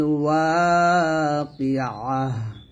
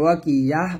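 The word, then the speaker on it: الواقعة: এখানে আমরা একটা ভুল করি, দেখুন ওয়া কি আ বলি, শুধু আ বলা যাবে না, আবার ওয়া কি ইয়াহ বলা যাবে না, বলতে হবে আইন। এই যে আইনের উচ্চারণটা চাপ দিয়ে বলতে হবে, আইন হা জবর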